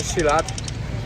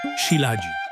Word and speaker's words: Shilajit: Jak skała się poci, to zbierają ten shilat. Ma po prostu niesamowite właściwości zdrowotne. Także muszę to kupić. Prawidłowa wymowa to siladzi.